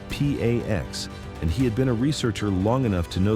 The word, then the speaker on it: P4X: He calls himself P4X, pronounced P AX.